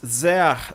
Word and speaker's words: sehr: Na sequência, ele diz sehr sogar, tá? O sehr, ele é uma palavra quantitativa, é bastante, tá? Sehr, você pronuncia assim, ó. Sehr, sehr, sehr. O S tem som de Z.